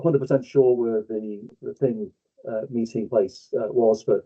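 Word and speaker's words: þing: Norse Anglo-Saxons have it too thorn which is pronounced th so thing and the same element appears in our thing.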